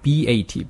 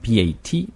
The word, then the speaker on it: bat: 자, 6번 단어는 B-A-T 야구 방망이 또는 박쥐 이런 단어인데 T가 맨 뒤에 있습니다. 그럼 B-A-T, T가 맨 뒤에 있으니까 bat 하지 말고 bat. bat. 네, 딱 거기까지 딱 끝나면 돼요.